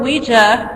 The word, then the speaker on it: Ouija: Kennard, whatever, stated that he named the new board Ouija, pronounced Ouija, after a session with Miss Peters, Elijah Bond's sister-in-law.